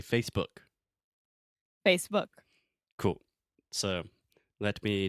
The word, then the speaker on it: Facebook: First, the most important thing is what we call in linguistics the vogal de apoio. So you don't want to say Facebook.